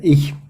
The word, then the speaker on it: ich: I or myself, and we have different ways to pronounce the ch. It's in this word, in ich. It sounds a little bit like sh would sound in English, but it's not sh, but it's a little bit more in the back of the mouth.